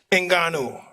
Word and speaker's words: Ngannou: Ngannou. I'm not saying My it right, son. am I? Ngannou.